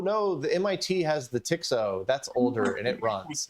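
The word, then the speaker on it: TX-0: Everybody Everybody pronounces it the Tixo.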